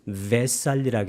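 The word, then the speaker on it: Vesālī: 이 V는 팔리어에서는 W로 발음해 줍니다. 이것을 웨살리라고 해도 괜찮습니다.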